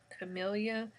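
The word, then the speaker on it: Camila: so i'm on the i believe it's pronounced camellia c-a-m-i-l-a so i just started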